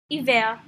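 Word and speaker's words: hiver: we have h ash iver or winter as you may have noticed the eight in evil is silent wheat is eight repeat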